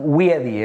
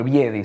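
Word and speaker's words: wiedii: Es Leopardus wiedi, es sí. El nombre, wiedi sería, es con W pero se pronuncia así, el nombre científico.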